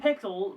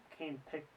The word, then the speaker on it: Kane Pixels: An excellent concept done great by Kane Pixels but but It's Pixels, isn't it? I've been saying it wrong this whole time. Kane Pixels.